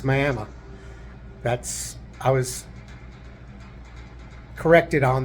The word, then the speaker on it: Miami: video and say that's Miami no it's Miami that's I was corrected on that and explained that is how they pronounce it here it's not like Florida so had a very